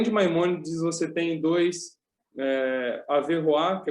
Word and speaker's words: Averroes: Então, na Universidade de Paris mesmo, o Averroá, se escreve Averroes, ele já vai contar com seus alunos, né?